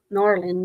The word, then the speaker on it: New Orleans: We say New Orleans, but it's N'awlins.